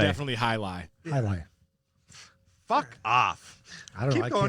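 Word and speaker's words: Hialeah: highlight? It's how I pronounce it that went smooth. I thought it was highlight, right? I don't. It's Highley. definitely high lie.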